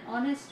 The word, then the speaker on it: honest: Honest start with vowel sound O when we pronounce. The letter H is silent. उसमें H silent है और हम जब उसको pronounce करते हैं तो वो honest बोलते हैं. We pronounce honest as honest.